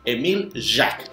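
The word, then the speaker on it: Émile Jaques: era en mil ya pero ojo porque no se escribe así como se está mostrando acá se escribe con sin la c entonces por favor vamos a escribirlo correctamente exacto así es emil yak y él fue un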